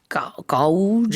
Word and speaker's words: gauge: 언뜻 봤을 때는 gauge Yeah, 이렇게 does not 발음이 look 될 like 것 gauge, 같은데 yeah.